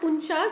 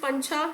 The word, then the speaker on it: pancha: So the increasing salinity levels in water bodies are posing a serious threat to the pancha paddy cultivation. It's not puncha, ಕೆಲವೊಬ್ರು puncha ಅಂತ ಕರೀತಾರೆ, it is pancha.